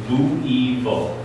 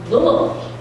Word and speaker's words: Louisville: Louisville. Louisville.